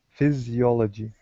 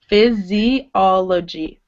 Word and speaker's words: physiology: Physiology. Good. So you actually do have to pronounce this I. And it's one of the rare times where it's being pronounced like E. Physiology.